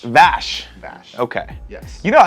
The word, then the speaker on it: Vash: No, it's kind of like Dash, but it's not Dash. It rhymes with Dash. Splash. That's It's Splash. not, It's not Splash? Splash. Someone's going to be named Splash. No, his name is Vash.